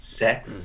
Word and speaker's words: CeX: uh is it scandalous because it's pronounced sex is that c-e-x maybe